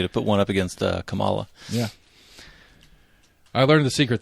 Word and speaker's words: Kamala: The trick to saying her name right? Yeah. It's a comma. Kamala. Kamala. Kamala, yeah. So Kamala. So the punctuation is how I remember to say it right.